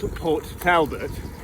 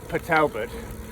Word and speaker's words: Port Talbot: I came through a town this morning, which you would think was called Port Talbot, but apparently it's pronounced Patalbot for some local reason.